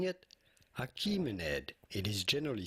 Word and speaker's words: Achaemenid: How do you go about pronouncing it? Achaemenid, it is generally said in English, even though some may pronounce it as Achaemenid. Both pronunciations are fine, but in English it is usually pronounced as Achaemenid.